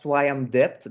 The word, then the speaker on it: Swayamdipta: My first name's pronounced as Swayamdipt. The last A is silent, so I'm not Swayamdipta. I'm Swayamdipt. Such a pleasure and honor to be back here.